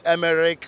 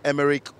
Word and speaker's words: Emerick: sports fans get to pronounce all sorts here the likes of a boomerang a boomerang or he had them em Eric or some of them actually said Emirates but I mean the representation has to be Pierre Emerick Obama young he's a national player